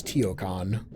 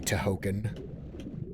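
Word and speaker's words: Tihocan: Now we have finally entered the tomb of Toahoken, which I think I used to pronounce Teioon, but uh pretty sure the cut scenes say Tohoken. Oh, can't pull that switch.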